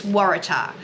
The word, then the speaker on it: Waratah: It's Waratah. We've heard some interesting pronunciations of that recently, but that is how it's pronounced, just in case anyone was wondering.